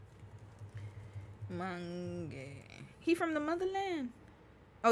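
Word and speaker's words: Mangue: Obiang Mangi? Oh, Lord, I said his name wrong. My bad. Mange.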